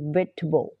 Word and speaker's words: vegetable: Doesn't Like eating Vegetable อัน นี้ ออก เสียง เป็น Vegetable เออ He Doesn't Like